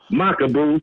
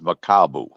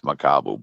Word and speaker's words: Makabu: Why is nobody talking about Badu Jack versus Makabu? That's to me is a good fight. I know it don't really got the star appeal. Remember when Canelo wanted to fight Makabu, jumping up divisions again like he always does.